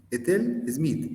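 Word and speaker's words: Ethel Smyth: Bueno, entonces, esta compositora es inglesa y vamos a utilizar una pronunciación muy fácil. Ethel Smith, Ethel Smith, una T como con D, Ethel Smith, compositora inglesa, nacida en 1858, fallecida en 1944 en el Reino Unido.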